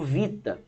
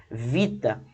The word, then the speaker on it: vita: Então era utilizado como vita. Né? Falava-se U-I-T-A. Então se utilizava como se fosse consoantes, falava vita.